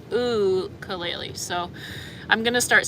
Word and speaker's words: ukulele: lot better at the ukulele I'll say that and somebody corrected me on how to say it in a comment they were like it's like ulele so I'm going to